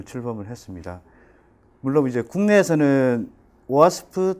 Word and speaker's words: OWASP: 오늘은 그 OWASP라고 일반적으로 웹 애플리케이션 보안 커뮤니티인데 정식 발음은 OWASP라고 합니다. OWASP의 한국 대표로 그 애플리케이션 보안에 대해서 발표하게 되었습니다.